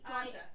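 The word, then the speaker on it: Sláinte: Slancha. Yeah. That one. Slancha. Slancha. Slancha is health. It's spelled Like Slancha.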